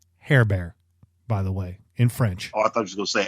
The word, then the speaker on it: Herbert: uh by the way herbert in french is pronounced hair bear by the way in